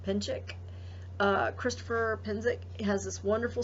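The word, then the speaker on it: Penczak: Now, I believe he pronounces his name Penzic or Pinchik.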